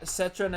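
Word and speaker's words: Citroën: one uh it's where uh hold on yeah citroen is c-i-t-r-o-e-n i've never heard of that so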